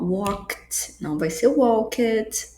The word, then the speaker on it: walked: Então, ó, walked, walked, som de t.